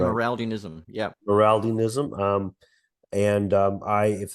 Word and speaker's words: Amyraldianism: Should I pronounce it right? Amyraldianism.